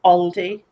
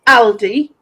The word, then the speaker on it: Aldi: we have Aldi and my friend says Aldi I'm like no it's Aly I do that because